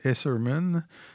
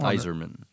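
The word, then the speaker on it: Eiserman: Cole Esserman, cette saison. Iserman. C'est Iserman qui On prononce? prononce Iserman, oui. OK. Ça s'écrit juste pas pareil.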